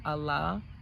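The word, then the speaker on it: Ala: Some people call her Allah. Has been an assistance to me. And someone will say, well, Whitney or Elise, who is Allah? And it's spelled A-L-A.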